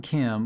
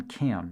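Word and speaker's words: Kam: The John Cam Malt House, the 130,000 square foot brick complex at 356 Hurdle Ave, was built in 1901 by John Cam, that's spelled K-A-M, and at one time was the largest brewery in Buffalo.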